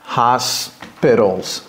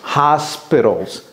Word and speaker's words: hospitals: Il y a un S avant le P en anglais. Ok, hospitals, hospitals, hospitals.